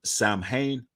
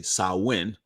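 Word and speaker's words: Samhain: of the traditions of Sam Hayne or it's actually sauwin the evening before Saints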